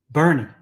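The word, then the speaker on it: Boerne: toown of boring or Bourne Texas pronounce okay pronounce burn Bernie b r NE e the group angels all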